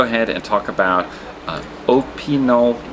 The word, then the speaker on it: Opinel: and talk about uh opol knives which is the correct way of pronounce pronouncing I had the shop clerk pronounce it a few times to make sure I had it right but let's talk about